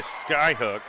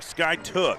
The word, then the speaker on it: Skiatook: is a bucket by Skyhook I'm sorry Sky took I've got to get my pronunciation correct here's camariana Moten she's dribbling left down by 11.